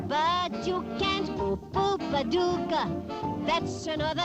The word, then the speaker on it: Paducah: Paducah, Paducah. If you wanna, you can rhyme it with bazooka, but you can't poo-poo Paducah.